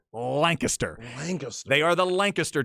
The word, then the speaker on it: Lancaster: Remember, it's not Lancaster. Yeah, I always say Lancaster. It's not England. Remember, when you're in Texas, go with the Texas pronunciation. Lancaster.